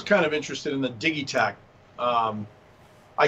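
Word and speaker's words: Digitakt: He always says it's pronounced Digitac.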